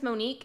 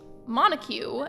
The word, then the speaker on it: Monique: cat Viller I just saw her name is Mo'Nique and whenever I was a kid like playing